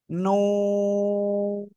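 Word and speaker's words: ن: জিহ্বার আগা, তার বরাবর উপরে তালুর সাথে লাগাবেন, লাগিয়ে সিম্পলি 4 আলিফ টানে উচ্চারণ করবেন। নুন, নুন।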